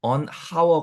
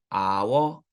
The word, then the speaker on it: hour: 예외 적 으로 "h" 는 묵음 입니다 . 그러니까 " 아 하우르 " 가 아니라 " 아워 " 인 거 죠 .